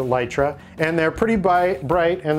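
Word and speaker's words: Litra: lit resort I trust although it's spelled litora but the company calls a light ray and they're pretty bright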